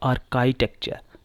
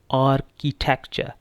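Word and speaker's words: architecture: Next word, इसमें इतनी commonly mistake नहीं होती, लेकिन फिर भी कुछ लोगों को मैंने सुना वो इसको इस तरह प्रोनाउंस करते हैं आर्किटेक्चर या आर्काइटेक्चर, लेकिन the correct pronunciation for this word is आर्किटेक्चर.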